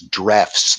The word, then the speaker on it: Drews: It looks like in English pronunciation, I think it's Drefts, though.